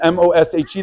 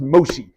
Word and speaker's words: Moshe: that your name is M O S H E, there's a 50-50 chance it should be Moshe, but they will always assume it's pronounced Moshi.